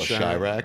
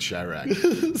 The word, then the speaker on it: Chirac: But, you know, instead he made Chirac, which I hear is actually really good. But still, Ryan Coogler. Chirac. You know, Chirac. You call Chirac? I went Chirac. Like Chi-Town. Supposed to be like Iraq, right?